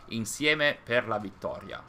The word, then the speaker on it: Insieme per la vittoria: The pronunciation of Insieme per la vittoria is pretty much like this. Insieme per la vittoria, without any strong accent or, I think that they had a strong accent on the vowels because they wanted to make it feel more powerful, like they did, like insieme per la vittoria. We don't say it like that, but of course it